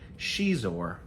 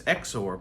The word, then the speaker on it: Xizor: I've heard people say Prince Xizor, but I think it's Xizor. I think it's Prince Xizor.